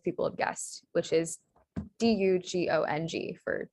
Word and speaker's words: dugong: the u sound is spelled the u and u sound is spelled with the u um and so then we get the correct spelling that most people have guessed which is d-u-g-o-n-g for dugong or dugong all right